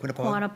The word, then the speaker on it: Quinnipiac: Quantipoc.